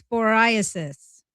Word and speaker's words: cyclosporiasis: Another day, and there's more and more of these cyclosporiasis cases. You've been reading this thing. How do you pronounce Cyclosporiasis.